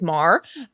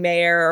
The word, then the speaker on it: Maher: Our last name famously is Mar. Rhymes with star. People love saying Mayer or Meyer. Yeah. None of those. It's Mar.